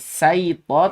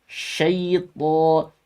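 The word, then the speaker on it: شيطان: Sya bukan saito tapi syaito. Sya kurang tebal lagi adik.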